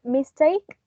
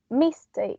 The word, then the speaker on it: mistake: Here, the word mistake has 2 syllables, and the accent, I mean, not the accent again. The stress is on the second syllable, take, because we don't say mistake, we say mistake.